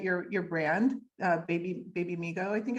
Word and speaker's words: Babymigo: your your website your your brand uh baby baby Amigo I think it's called I don't know if I'm pronouncing it right yes yes so just tell